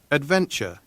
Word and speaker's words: adventure: Adventure. adventure 마찬가지죠. TU 요게 붙어 있으면 약간 추에 가깝게 발음이 되는 경향이 있어요.